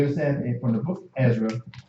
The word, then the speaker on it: Ezra: Ezra and Esdras are the same person. One is pronounced in the Hebrew, one is pronounced from a Greek translation.